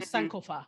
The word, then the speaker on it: Sankofa: Also, Haile Gerima, who directed Sankofa. or Sankofa, let me say it properly.